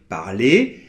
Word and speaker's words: parler: - Par contre, on sait que quand ça finit en -ER comme dans les verbes en -ER, là on ne le prononce pas ! - Bien sûr, parce que le E et le R forment un digramme qui est prononcé [e]. Et donc là, on n'entend pas de R, par exemple on va